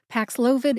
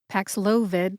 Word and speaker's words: Paxlovid: Pax loid Pax loid Pax loid treats covid again if you say it fast it sounds like PID there you go let's